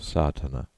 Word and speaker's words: Sadhana: about the pronouncing of sartana the accent falls decisively on the first a which has the broad sound of the letter contents one the relation